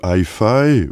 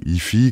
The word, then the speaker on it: iFi: moins aimé concernant l'appareil rappelons tout simplement que hii ou IFI comme vous souhaitez le prononcer est un constructeur anglais de d'appareils donc